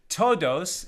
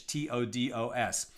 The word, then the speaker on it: Todos: and todos the doctor todos it's spelled like todos right like like everyone in Spanish t-o-d-o-s but todos is actually